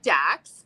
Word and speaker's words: Dax: king we are here today at is it dakes am i pronouncing it correctly yeah actually okay okay that's an idea we played with so yeah yeah so we're here at dax and you guys are right off of the